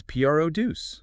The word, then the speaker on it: produce: When P R D U C E becomes a noun, the stress shifts entirely to the first syllable. Okay, so how does it sound? It becomes P R O duce.